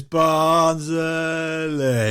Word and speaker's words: Barnsley: No, that's not how you say it, lads. I'm not from the Barnsley. greatest team the world's ever seen, and it's Barnsley. You've added a R in there, lads. And it doesn't.